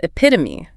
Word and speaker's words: epitome: Then we have epitome. IPIT. Oh, yeah. Stress on the second syllable. That third syllable is a schwa, and it ends with a long E.